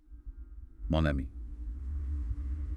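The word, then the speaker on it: mon ami: So instead, you use mo, the n sound at the end of mo, which is usually silent, links up with the vowel sound of ami. Monami.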